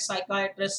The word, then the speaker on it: psychiatrist: interesting assignment silent m silent p is very easy you come up with words like psychiatrist psychology asylum be okay doubt